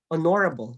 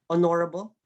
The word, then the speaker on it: honorable: this if you're going to pronounce the word honorable can you pronounce that honorable honorable yes our so you have the words adorable